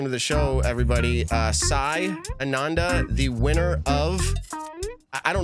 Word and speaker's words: Ananda: Soft A's, so Ananda.